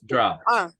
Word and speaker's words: dropped: No, la E no la pronunciamos. Dropped.